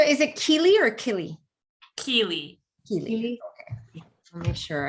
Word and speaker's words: Kili: Kili.